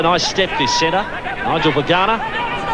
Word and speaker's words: Vagana: Nigel Vagana. You'd like to know he's actually pronounced Vangar. We might stick with Vagana.